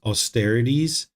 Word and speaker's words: austerities: Past unwholesome actions cannot be exhausted with the performance of piercing atrocities. Am I saying that right? I think the way I pronounce it is austerities.